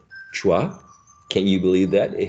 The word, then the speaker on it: schwa: this famous vowel sound which is uh called chua can you believe that it has a name and the name is schwa um is the first uh vowel sound in